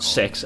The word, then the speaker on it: CeX: But then, as far as I'm concerned, um, CEX Sex, as it's actually pronounced, which I'm pretty sure is a British one that do like pre-owned games and whatever.